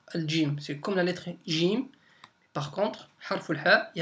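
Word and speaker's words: ج: Donc c'est comme le J français.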